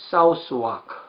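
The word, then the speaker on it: Southwark: 근데 이 영국 일반 특수침례교회의 탄생을 공부하려면 1616년에 헨리 제이콥이라는 분이 영국 템즈강 남쪽에 사우스와크. 근데 이게 한국말 발음이 사우스왁이죠.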